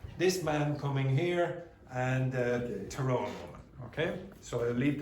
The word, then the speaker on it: Tyrone: Okay, it's pronounced Tyrone. Tyrone.